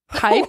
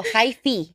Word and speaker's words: hyphy: No, hyphy. What hyphy? Is that? Yeah. Okay, well, it's old, but, you know, wait, it's good. Hyphy. How do you spell it? It's not hype, okay? It's H-Y-P-H.